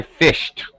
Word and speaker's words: fished: T directly on there do not say fish it we don't add an extra vowel Just Fish so example the word fish as a verb to fish when we make it past tense to fished it's still one syllable one vowel sound I